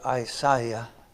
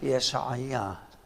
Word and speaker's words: Isaiah: The English say Isaiah. Neither one of them is correct. It's Yeshaya.